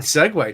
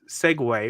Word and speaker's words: segue: One of them is segue, which they'll say Segu.